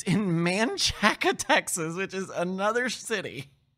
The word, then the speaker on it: Manchaca: It's in Manchaca, Texas, which is another city. And it's not pronounced the same way as the road.